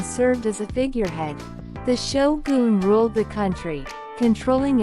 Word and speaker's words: Shogun: on the pronunciation of Shoon pay attention to the Goon part it's not gun like a weapon it's goon stick around till the